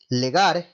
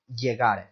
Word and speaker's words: llegar: Another good example would be that the double L in Spanish sounds like a Y in English. This word is not pronounced legar, it's pronounced llegar.